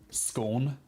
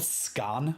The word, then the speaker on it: scone: I have a serious question how do you pronounce scone scone uh that's how I pronounce it some people call it scan I have no idea where it's called scan